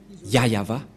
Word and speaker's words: Yahvah: voit rien et donc c'est bien la V prononciation de son nom yayava voilà le ya et